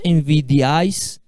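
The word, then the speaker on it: envidiáis: Envidiais, a gente pronuncia essas 3 vogais juntas. Envidiais. A vogal forte está acentuada. Por que ela está acentuada? Porque aqui é a sílaba tônica. E o acento, óbvio, né? Vai na vogal forte. Envidiais. Envidiais, né? é uma oxítona. Terminada em S, é acentuada, né? É uma palavra oxítona, a última sílaba tônica.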